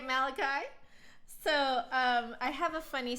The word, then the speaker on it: Malachi: one of the teachers called Malachi mulashi and me being this little you know the little smartass ten-year-old that I was raised my hand and said it's pronounced Malachi do I regret saying